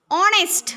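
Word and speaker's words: honest: ही इज ऑनेस्ट मॅन ही एच एन एसटी याचा उच्चार काय होईल रे ऑनेस्ट म्हणा नेस्ट पुढील वाक्यात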